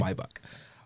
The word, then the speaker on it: Maybach: of Escalades, S550, the Maybach, and catch that pronunciation. That's very important. Yeah, absolutely. Maybach.